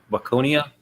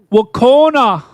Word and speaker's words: Waconia: How do you pronounce that? Waconia? You're gonna mispronounce. How about Wacona?